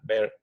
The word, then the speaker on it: Beer: ley de Beer, pero en realidad el científico se llama Beer porque es en alemán. Entonces, en realidad, en alemán se pronuncia Beer.